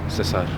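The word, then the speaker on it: César: In the Greek and the Latin, it's pronounced Kaiser. All right. How do you say Caesar in Spanish? You say Caesar? Cesar.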